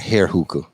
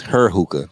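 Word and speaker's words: Heir Hookah: I'll be saying Hair Hookah, but it's Her Hookah. Her Hookah. But it's got it's HEIR. It's Her Hookah, but it's HEIR _ hookah.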